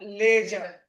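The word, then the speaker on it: ledger: लेजर। लेजर D silent है।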